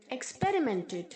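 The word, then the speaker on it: experiment: बहुत सारे बच्चे इसे एक्सपेरिमेंट बोलते हैं, एक्सपेरिमेंट नहीं है बच्चों, एक्सपेरिमेंट, एक्सपेरिमेंट। आर के आगे जो आई है वो आई की तरह प्रोनाउंस नहीं होगा, ई की तरह प्रोनाउंस होगा, एक्सपेरिमेंट। ओके, प्रयोग करना, एक्सपेरिमेंट्स, एक्सपेरिमेंटिंग।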